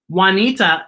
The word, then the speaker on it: Juanita: juarez okay now friends juanita is a name that is spelled with j you wa and it has the juanita what has the what sound bjorn is spelled b